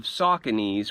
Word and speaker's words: Saucony: but my whole life i've been pronouncing this brain wrong the first memory i have of sauconese which i thought was saucony was when i was